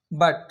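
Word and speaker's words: but: দিই তাহলে বুঝতে পারবা দেখো যেমন পি ইউ টি পুট বি ইউ টি বাট এ দুটো শব্দের মিল আছে একই পি ইউ টি পুট বি ইউ টি বাট দেখুন প্রোনাউন্সিয়েশন কিন্তু আলাদা উচ্চারণ কিন্তু আলাদা শব্দ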